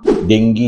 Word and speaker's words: ডেঙ্গু: সাথে একটি অত্যন্ত গুরুত্বপূর্ণ একটি রোগ যার নাম ডেঙ্গি জ্বর বা ডেঙ্গু জ্বর সেই সম্বন্ধে দুই এক